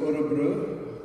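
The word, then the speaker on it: Örebro: event today um I'm on my way to orobro but that's the right pronunciation where I'm working with this Swedish chamber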